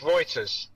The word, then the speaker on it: Reuters: was a key right so it's Reuters Thomson Reuters technically menses they at some point they join together anyway the point is yes it's Reuters nation you now know how to say the name right yeah